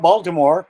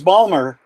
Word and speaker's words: Baltimore: University of Maryland that it's not Baltimore its Ballmer yep that's from the English background okay does anyone else